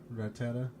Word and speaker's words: Rattata: Oh, is that how you pronounce it? Yeah, Rattata.